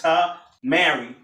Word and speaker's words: Tamare: Tamare. And in the book, Jesus Found in Egypt, he actually helps you pronounce Tamare because it's Ta Mary, and he really breaks that down there.